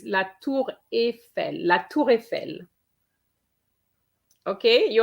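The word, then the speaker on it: la tour Eiffel: surname okay numero de it's not quite la tour e i know that in e i in english is the sound e but it's not in french it's la tour efe la toure fell okay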